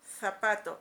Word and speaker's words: zapato: Pero ¿qué pasa con los españoles? Sí se notaría, es decir, zapato. Es una interdental, la lengua se coloca entre los dientes, por eso se llama interdental, está entre los dientes.